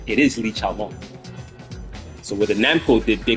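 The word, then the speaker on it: Li Xiaolong: The Chinese pronounce it Li Chaolong, but the Namco, the programmers, to tell you who they're trying to rip off, they named Li Chaolan Li Chaolan.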